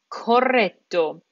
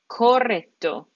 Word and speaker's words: corretto: Correct becomes corretto. There's two R's, two T's. We need to pronounce both of them. Corretto, corretto.